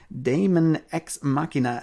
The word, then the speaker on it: Daemon X Machina: And then we have all just announced for 2019, Daemon X Machina, and I am terrible at pronouncing that.